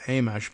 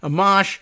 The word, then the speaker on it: Amash: Ames or amach sorry I used to go with amsh but I don't know I kind of like that pronunciation but Amash I think is the way that uh Roslin points out it it is said locally the former representative a